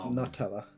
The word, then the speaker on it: Nutella: It's Nutella. I pronounce... the usual explanation I give is we found out it's from Italy, so because we were